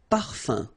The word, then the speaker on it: parfum: You don't pronounce the M at all. Un. Okay? So par, fin, parfum.